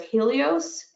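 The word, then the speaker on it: Healios: One of the brands that I've found was Helios, that's spelled H-E-A-L, so Heal, ios, I-O-S, and it has L-glutamine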